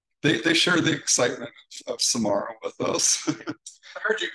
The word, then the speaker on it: Samara: So you could say Samara because the spelling of Samara looks similar to the spelling for the Sahara Desert. Or you can say it's Samara, which is the way that Dr.